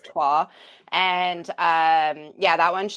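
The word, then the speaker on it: Troyes: may have seen it it's spelled like Troys um but it is a French word so it is twah and um yeah that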